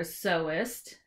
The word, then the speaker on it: sewist: You were a sewist. Sewist. That's the term. Because really? If you say sewer, it's spelled like sewer. It's kind of gross.